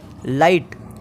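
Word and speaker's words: light: पढ़ेंगे इसी तरह से नंबर चार पर है लाइट लाइट में भी हम GST में की को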